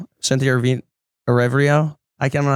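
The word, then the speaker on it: Erivo: How do you say it? Arivo. So it's like way easier than I was making it. I don't know why I thought there was like an N on it somewhere.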